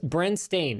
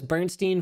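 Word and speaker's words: Berenstain: mandela effect works okay it's bren stain it's s-t-a-i-n i thought it was bernstein for years but that is actually not how it's spelled i know nobody says it like that but it i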